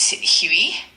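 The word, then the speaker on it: huit: 8 Huey and it's spelled H UI.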